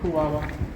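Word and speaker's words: Kuaua: How did you pronounce the Native American's name? What was the The village is called Kuwawa.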